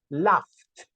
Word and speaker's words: laughed: Una F, que normalmente se escribe con una GH o una PH, nos da el sonido de una letra F. Laughed.